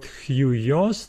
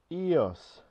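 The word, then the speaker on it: υἱός: So the Greek example is the word huios. This is our diphthong, huios, meaning sun. I thought it was eos.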